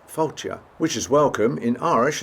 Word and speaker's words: Fáilte: Felty, which means welcome. It's not, it's pronounced Fáilte, which is welcome in Irish as well as Scots.